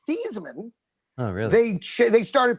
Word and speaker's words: Theismann: things about the heisman number one it's actually pronounced thiesman oh really they started pronouncing a thiesman in